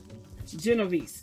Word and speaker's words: Genovese: Genovese.